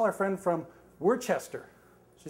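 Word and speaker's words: Worcester: s t e r she said oh wora I said no Worchester three syllables to ours and she said as sure as my name is kala that's wora so it's W so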